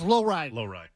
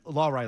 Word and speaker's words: Lohrei: Have I pronounced that right? I think it's Lohrei.